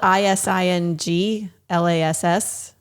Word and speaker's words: isinglass: It's spelled ISINGLASS.